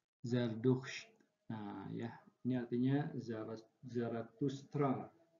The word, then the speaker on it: Zardusht: Tapi ketika dibaca, maka dibaca Zardusht ya. Ini ada yang kurang. Nah, ini harusnya Zardusht ya, ada huruf D di sini nih. Zardusht.